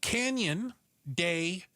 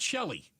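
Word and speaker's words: Canyon de Chelly: It's canyon day. C H E L L Y. It is not Shelly. It is not the Canyon Dell.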